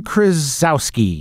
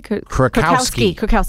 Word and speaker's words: Krakowski: which was the Jane Krasowski. Is that how you say her name? I don't know. The one from... Kat Von D. No, Jane Krasinski? Krakowski. There we go.